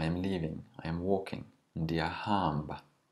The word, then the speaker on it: ndiyahamba: Ndiyahamba. Notice that the second last syllable is always stretched in Xhosa.